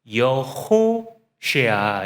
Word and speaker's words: 여호수아: 호세아 이렇게 이제 발음을 합니다. 그 앞에 여자를 붙인 거예요. 그래서 여호쉐아 이렇게 되는 겁니다.